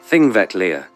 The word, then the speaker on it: Þingvellir: Last stop, Þingvellir National Park, pronounced Þingvellir.